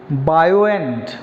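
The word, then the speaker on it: buoyant: Third word of द डे, बायोएंट। What is the word? बायोएंट।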